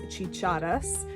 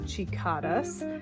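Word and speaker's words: chicharras: The word in Spanish is chichadas, not chicadas. I was thinking about cicadas, so yeah, you'll probably come at me in the comments about that, but I get it. I know it was a mispronunciation, but we say chichadas for cicadas in Spanish.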